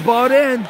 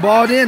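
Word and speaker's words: Beaudoin: Chasing down that puck is bought in. B-E-A-U-D-O-I-N, bought in, I think. Bought in. I believe that's how you pronounce that name.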